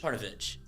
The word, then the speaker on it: Parnovich: But his last name is it Parnovic or Parnovich? Parnovich. Yeah, you're right.